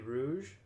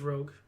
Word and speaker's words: Rogue: we got Assassin's Creed Rouge Rogue Rouge Rogue Rose uh I think it's Rogue oh makes more sense it would be that it's it's as Rouge here okay yeah that's